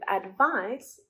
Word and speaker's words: advice: With advice, the C is pronounced as an S.